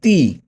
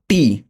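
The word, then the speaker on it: ti: টি কে উচ্চারণ করব বাংলায় হলো তয়র শিকার তি। তি, নট টি।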